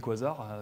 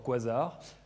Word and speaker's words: quasar: On va leur voir quasar. Alors déjà, prononciation, est-ce qu'on dit quasar ou quasar? Ah, ça c'est la grande question. Alors beaucoup de monde dit quasar. Moi, je dis quasar.